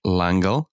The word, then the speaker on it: L'Engle: built a crooked house madeleine l'engle uh and that was not me mispronouncing that's french langelle um describes a tesseract